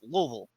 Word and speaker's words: Louisville: It's like, you talk to people in America and they say, "Oh yeah, I'm going to Louisville." Mm-hmm. And if you go to anybody that lives there, that's Louisville.